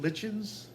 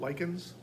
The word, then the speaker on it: lichen: Now the lichens, I have heard people pronounce it lichens, but typically it's called lichens.